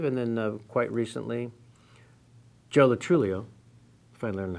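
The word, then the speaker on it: Lo Truglio: Lennon, I believe, and then quite recently, Joe Latrullio, if I learned how to say his name correctly.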